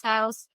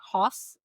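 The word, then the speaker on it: Haus: Like I said, reach out to Flex House. I'm going to spell it because it's not house. It's like hos German.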